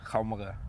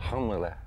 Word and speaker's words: Qaumariaq: Qaumariaq. Again? Qaumariaq.